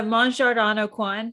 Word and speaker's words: Mon Jardin Au Coin: it's how do you look it up uh mon jardano quan so it's spelled m-o-n-j-a-r-d-i-n a-u-c-o-i-n yeah you can find it